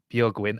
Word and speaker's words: Björgvin: I tried to pronounce buin I I've understood it's more like a w sound for English right like the end the VIN is win yeah yep that's true